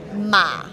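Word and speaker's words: 马: So this is pronounced Ma.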